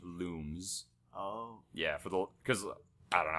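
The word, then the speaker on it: Lums: Rayman 3 you know how they say lungs in the game it's actually pronounced looms yeah cuz I don't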